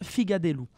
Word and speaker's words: figatellu: dit tout bas justement dans le sud de l'île le mot se prononcent rigate doux dans le nord de l'île en revanche il se prononce figa des loups alors il existe en